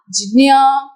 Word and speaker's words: ज्ञ: दुनिया के अलग अलग प्रदेश में अलग अलग तरीकों से आपको इसी लेटर के वेरिएशंस मिलेंगे, जो कि उच्चारण इस तरह से करते हैं ग न अ, ज्ञ, जो कि गलत है। ज्ञ गलत उच्चारण। ड न और य, जो मैं बोल भी नहीं पा रही, न्या।